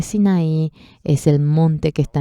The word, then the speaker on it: Sinaí: Sí, en coreano se dice Sine, pero es la península de Sinaí, es el monte que está en la península de Sinaí.